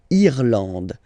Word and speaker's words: Irlande: Remember, this is E, and it should be pronounced like E. Irlande. Okay. A-N, en, D, and final E, not pronounced.